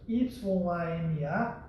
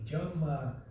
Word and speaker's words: Yama: Se escreve com Y, Y-A-M-A, Yama. Alguns chamam de Jama.